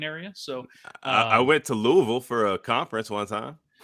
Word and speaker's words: Louisville: the Bowling Green area so I went to Louisville for a conference once huh hey you said